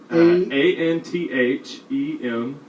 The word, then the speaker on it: Anthemeers: Anthemeers. Anthem, and then ERS. EERS. Not like the ears on your head.